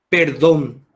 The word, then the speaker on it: perdón: hacer analicemos la palabra perdón bueno quien hace el trabajo de separar en sílabas don perfecto don donde se carga la voz en la segunda sílaba que sería la última excelente esa es la